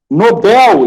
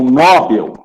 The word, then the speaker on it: Nobel: Nobel e não Nobel.